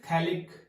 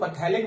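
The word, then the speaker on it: phthalic acid: इसको बोलते हैं थैलिक एसिड। PH is silent over here, कई लोग पथैलिक बोलते हैं, this is पथैलिक, PH is silent and we call it थैलिक एसिड, ठीक है बेटा।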